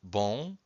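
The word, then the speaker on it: bom: have one word with one syllable, just one syllable, bon, and it ends with a vowel, an O in this case, and the M.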